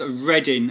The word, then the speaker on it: Reading: XR United okay then there's all copied we pronounce it as reading as reading and if you have a look